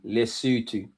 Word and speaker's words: Lesotho: You pronounced it perfectly with my breakdown. Lesotho. Lesotho.